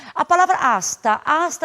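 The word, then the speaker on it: hasta: laat da mesma maneira como em português o h não tem som então ele aparece somente na forma escrita mas não na fonética a palavra asta asta é uma preposição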